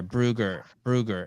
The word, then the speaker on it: Moosbrugger: There's an R in there, Brugger. And I feel like you and John are missing that.